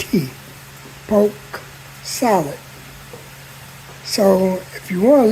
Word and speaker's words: poke: and it's pronounced poke it's p o k e just like you want to poke something so that is basically